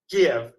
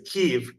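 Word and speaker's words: Kyiv: K right you know the old way of saying it was Kev and now the new modern Ukrainian way is keev and I go back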